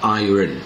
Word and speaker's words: iron: invite Iron นะ ครับ บาง คน ออก เสียง ไอ นะ แต่ ต้อง เป็น Iron นะ ครับ i r o